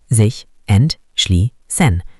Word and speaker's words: sich entschließen: Pronunciation, sich entschließen.